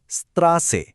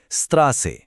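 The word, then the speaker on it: Straße: যেমন ধরুন রাস্তা শব্দটার জার্মান হলো স্ত্রাসে। শব্দের শেষে যে একটা শার্প স সাউন্ড আসছে খেয়াল করুন। স্ত্রাসে আরেকবার স্ত্রাসে।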